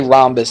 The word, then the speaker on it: rhombus: but we just say rhombus nowadays all right the H we just don't pronounce okay or you can